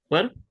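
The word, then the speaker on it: פה: ये पे ही बन गया। ओके, क्योंकि हे जो है वो साइलेंट है, तो इसे हमें इस तरह से पढ़ना है पे।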